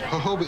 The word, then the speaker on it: jojoba: new typical pitch no the J is pronounced H Ozma Hobart the reason